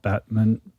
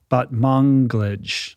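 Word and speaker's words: Batmanglij: Which was created by Britt Marling and Zal Batmonglij. I don't know how you say his last name. Batmonglij, I think is how you say it.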